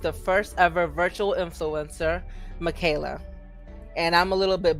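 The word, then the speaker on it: Miquela: paxon partners with the first ever virtual influencer michaela and i'm a little bit biased towards michaela because her name is spelled very similar to mine so um michaelas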